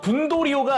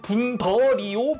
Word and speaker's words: 분더리오: 근데 이제 국내에서는 로컬라이징 되면서 분붐으로 바뀌긴 했지만 그래도 어 분도리오가 아니라 분더리오 붐데라스로 국내는 로컬라이징 했더라고요.